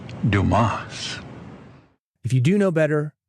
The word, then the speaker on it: Dumas: idiots like this guy Mr dumbass I can bring a lot to dumbass and dumbass I'm a go-getter dumbass material all the way so am I your man Mr dumbass the name is Dumas if you do know